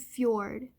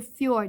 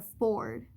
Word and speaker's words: fjord: And then here we have, by the way, he's a fjord. He's a fjord, not a ford.